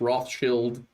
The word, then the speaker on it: Rothschild: that everyone from the Rothschilds uh and it's Rothchild. That is the pronunciation of that word. That's the German pronunciation.